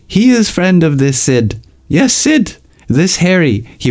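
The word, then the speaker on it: Sidh: a party in New York Sid not Sid Sid s d h that's how he pronounced it Pepe jerked upos Mo forget a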